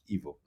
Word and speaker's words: Ivo: I mean, I work nowadays mostly for Netflix and BBC, and of course, in English you pronounce an E like an I and an I like an E.